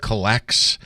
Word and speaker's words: COLLX: I think it's called Collects.